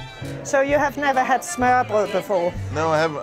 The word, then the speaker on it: smørrebrød: So you have never had smørrebrød before? No, I haven't. How do you say that? First, smørrebrød. Smørrebrød.